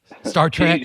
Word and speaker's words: Star Trek: Star Trek.